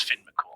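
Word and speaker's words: Fionn mac Cumhaill: Also, because it's Irish, his name is spelled Fon Makamale. Yeah, but it's Finn Makool.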